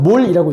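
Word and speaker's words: mol: 자, 이거는 몰이라고 읽습니다.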